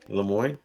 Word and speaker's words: Le Moine: So, yeah, my real name is actually Le Moine. Leam Moy. Le Moy.